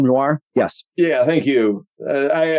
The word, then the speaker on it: noir: noir oh it's uh it's like noir like film noir yes yeah thank you